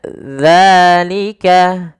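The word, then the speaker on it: ذلك: Usahakan teman-teman mungkin bisa melihat ee daripada bibir kami untuk makhrajnya yaitu dza ujung lidah kita tempelkan daripada dua gigi kita. Maka dza dza dza. Maka dzalika dzalikal kitabuikal kitabu.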